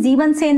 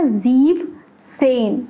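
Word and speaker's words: siebzehn: Then 17, तो 17 क्या होना चाहिए, टेक्निकली जीबन आना चाहिए फिर सेन आना चाहिए, लेकिन जीबन सेन नहीं आता। देखो आप ये लगाओगे जीबन सेन, लेकिन ये नहीं होता, ईएन नहीं आता, ईएन नहीं आता, तो यहां इसका एग्जैक्ट प्रोनाउंसिएशन क्या हो गया, जीब सेन, ये करेक्ट है, तो इसको मैं एक्सेप्शन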